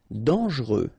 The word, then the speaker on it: dangereux: Dangereux. Final X not pronounced. And then don't really pronounce this E here. Okay, so you get dangereux.